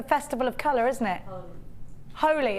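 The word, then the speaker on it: Holi: Holy. It's Holly, yeah?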